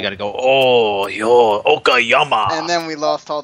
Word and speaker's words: Okayama: Gary said it right. I think I got to give him like some kind of applause or something. Yeah, you just got to say it in the Japanese style.